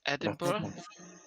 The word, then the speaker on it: Edinburgh: It's Edinburgh.